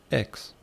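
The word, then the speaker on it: ἕξ: Interessante que o meia em grego, a pronúncia é hex ali.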